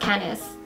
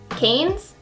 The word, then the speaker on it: Cannes: in the color canis I'm pretty sure it's not pronounced canis Cannes this has been my